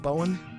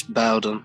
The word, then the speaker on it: Bowden: Am I pronouncing her last name right? Bowen? I think it's Bowden, yeah. Okay, all right. So It's with the D.